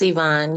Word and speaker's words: Ivonne: space thank you um yavon or ion tell me if I'm saying it correctly it's Ivonne you're right Ivonne how you doing great